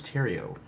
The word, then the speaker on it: Terrio: And Chris Terrio. Chris Terrio. Is that spelled like The Riot? It's spelled like Cheerio with a T.